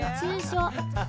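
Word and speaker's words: 捏造: So how you say it is netsuzo. How you say it is netsuzo, right?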